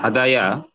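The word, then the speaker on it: هدى: মানে হাদায়া ইয়াহদি এভাবে হয় না। তখন এটাকে সহজীকরণ করার জন্য যে ইয়াটা আছে এটা এটাকে একটু ট্রিটমেন্ট করতে হবে। তখন আমরা এভাবে লিখতে পারি। দেখেন হাদা এই দালে তখন টান হবে।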